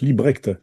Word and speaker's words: Libbrecht: Ça s'est créé Librecht pour les Français mais ça se prononce Librecht hein.